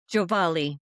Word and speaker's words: Giovale: Giovale.